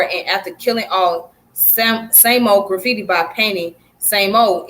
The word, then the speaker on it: SAMO: as same old and pronounced as same old it's primarily associated with